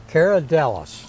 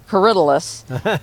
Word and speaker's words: Corydalis: Now you say it your pronunciation. Caradellis. And I call it Corydalis, and my friend calls it Corydalis. Okay, Corydalis. But that's the way it's spelled, is Corydalis.